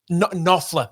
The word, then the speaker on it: Knopfler: flash, written because old mate, now I can't pronounce his last name, Mark, is it Knopfler. Knopfler.